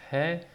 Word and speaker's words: He: the grammatical term is he the sound is H when it is at the end of the word it is silent okay now sometimes there